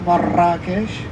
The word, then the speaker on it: Marrakesh: So Marrakesh or Marrakesh with a double R, as Moroccans would pronounce it like this, Marrakesh.